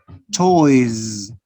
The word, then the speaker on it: toys: write the letter s but you don't pronounce it as the letter s do you pronounce it with the sound z toys toys toys notice you